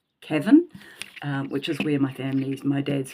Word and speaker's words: Cavan: I actually thought that they would take me to, now I pronounce it Cavan, but I think it's pronounced Cavan, which is where my dad's family is from.